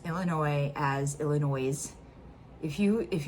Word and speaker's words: Illinois: not piss off an illinoisan faster than if you pronounce Illinois as Illinois if you if you put the s in it cuz it's a silent s so if you put